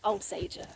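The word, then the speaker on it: Alsager: that understandable yeah but we do know how to pronounce the town's name now it's Al Sager what day it started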